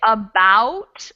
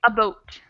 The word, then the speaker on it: about: Like, for instance, in the word about, I say about with that diphthong a-u, about. But sometimes Canadians say a boat, a boat.